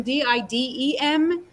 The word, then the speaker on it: Didem: it's quite hard to pronounce for Americans because it's written D-I-D-E-M, and D-I-D-E-M yes. in English is pronounced Didem. So they say yes. Didem or Didem, or, you know, they can't pronounce it in uh-huh. terms of Didem. It's a lot softer.